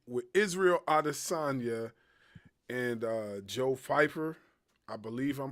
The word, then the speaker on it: Pyfer: in the fight with Israel Adesanya and Joe Pfeiffer. I believe I'm pronouncing his first name right. Pfeiffer, yeah.